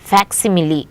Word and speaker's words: facsimile: c s i m i l a is pronounced as facsimile it is an exact copy of something it